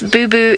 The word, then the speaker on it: boubou: beautiful boo-boo call and yes boo-boo is that's exactly how you say it it is a boo-boo